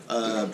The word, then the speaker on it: INIE: I don't know if is that the right way to pronounce it? INIE? Okay, good. Not howdy, but INIE.